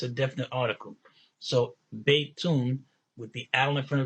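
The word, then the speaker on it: بيتٌ: just like any bait, then we know that means that it's pronounced baytun, that the dhamma on the end is double. So it's not baytu, it's baytun.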